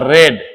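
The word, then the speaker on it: read: Form क्या हो जाएगा रेड स्पेलिंग वही है लेकिन थर्ड फॉर्म में इसे रेड बोला जाता है आई हैव रेड मैं एक किताब पढ़ चुका हूं।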